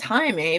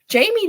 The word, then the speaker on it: Jaime: in me um and they want to pronounce it as Jaime because that's how it's spelled and it's funny because